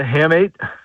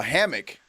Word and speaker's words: hamate: That's the hamate. A hammock. Spell that?